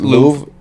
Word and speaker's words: Louvre: Louvre. Is that Louvre? It's a building in France. Yeah. And okay, that's why they don't pronounce it R.